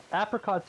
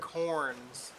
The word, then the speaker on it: Apricorn: Apricots are easy because you can literally just farm apricots. Apricorns. Thank you. I'm gonna say apricots. Well, you're gonna say it wrong.